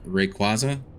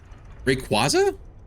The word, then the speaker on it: Rayquaza: It's like the legendary Pokemon, Rayquaza? Rayquaza? I don't, what one is that from? It's been 2 official, there's been 2 official pronunciations, so they just use whatever works.